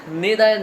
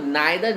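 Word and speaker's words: neither: सो फॉर एंड नेदर नॉर, और आप इसको नाइदर नॉर ही बोल सकते हो, दोनों ही प्रोनाउंसिएशन करेक्ट है।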